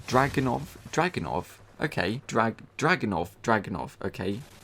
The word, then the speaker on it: Dragunov: Google, how does one pronounce Dragunov? Okay, Dragunov, okay. Dragunov.